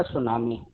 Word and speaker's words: tsunami: इसमें देखिए जब हम लोग इसको प्रोनाउंस करेंगे तो टी साइलेंट रहेगा। यस से हम लोग पढ़ते हैं तो उसको सुनामी मत पढ़िएगा, टी साइलेंट रहेगा, केवल यस से पढ़ा जाएगा सुनामी।